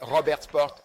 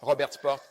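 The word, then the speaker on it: Robertsport: Le suivant est Robert Sport. Robert Sport port comme un port maritime.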